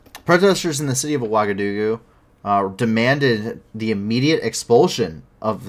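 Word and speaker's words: Ouagadougou: helicopter was hospitalized and coming out of a wagadugo here in Burkina Faso and I do know I pronounced that one right um protesters in the city of wagadugu demanded the immediate expulsion of the French ambassador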